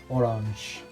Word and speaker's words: orange: way as you do in english but it's pronounced orange orange i'm not gonna go through an example